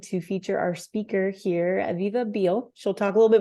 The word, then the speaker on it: Aviva Behel: So first of all, my name is Aviva Behel, not pronounced at all like that little name you see on the screen there if you're watching that.